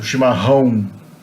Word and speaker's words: chimarrão: Okay, the double R is pronounced like an H. And the A with the tilde followed by the O is pronounced on. So chimarrão.